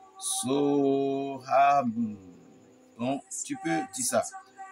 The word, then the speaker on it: Soham: Soham.